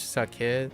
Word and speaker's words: sake: It is sake. Wait. And it's the English sake that rhymes with baked cake.